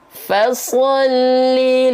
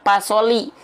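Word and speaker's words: فَصَلِّ: ayat kedua surah alkautsar huruf Fa masih banyak di antara kita yang melafalkan huruf Fa seperti melafalkan huruf P pada abjet alfabet ini jangan sampai dibaca pasoli pasolli bukan pasolli ya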